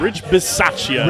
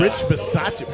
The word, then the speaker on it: Rich Bisaccia: How do you pronounce It's it? Rich Bisaccia. Rich Bisaccia.